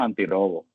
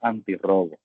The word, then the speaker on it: antirrobo: Entonces, si lo dejara de esta manera, pronunciaríamos antirobo. Por lo tanto, tenemos que incluir la otra R para que sea antirrobo.